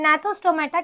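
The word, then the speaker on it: Gnathostomata: है ठीक है एंड नथो स्टोमेटा की स्पेलिंग जी से स्टार्ट होती है बट इसे जनाथ या गनाथ नहीं पढ़ते इसे नाथो स्टोमेटा पढ़ते हैं तो नाथो स्टोमेटा में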